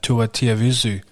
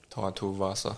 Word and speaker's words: Tai Tuivasa: Shout out to Tua Tiavizu. How do you say it? Tai Tuivasa. Tai Tuivasa.